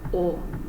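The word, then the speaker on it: を: that start with the wo sound. So yeah, you don't really pronounce the W, it's just like o. So yeah, when I say like kore o kudasai, like you don't say kore wo kudasai.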